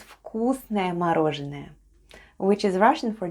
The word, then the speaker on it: вкусное: And altogether it's вкусное мороженое, which is Russian for delicious ice cream. Let's spell вкусное. The first letter is v, but it sounds like f in our case.